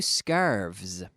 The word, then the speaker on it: scarves: They often they have a special relationship where words that end in F, nouns that end in F, when they are pluralized, are converted to the V sound.